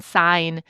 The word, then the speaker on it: sign: When we think about how the English spelling system is actually set up, students can understand why the G is silent in sign but suddenly pops in signal or how heal and healthy belong to the same word family despite shifts in pronunciation.